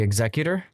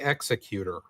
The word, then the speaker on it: Executor: What are you calling it? The executive. I call it the executor. In this case, it's ex it's more like executive like executive officer.